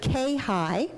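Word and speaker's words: CAHIE: new acronym for you we pronounce it K high but it's actually CA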